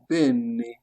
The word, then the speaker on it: bene: Lorsqu'il est ouvert, on le prononce quoi? Est, est. Pensez au mot père en français, père. On a est. Par exemple, on a le mot bene, bene, bene, bene, qui signifie bien.